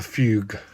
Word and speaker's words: fugue: Shaun, it's a fugue. A fugue. A That fugue. sounds right. A fugue. How it is pronounced in classical music.